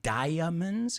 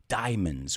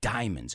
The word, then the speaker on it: diamonds: It's not diamonds, it's diamonds. We don't pronounce the A, diamonds.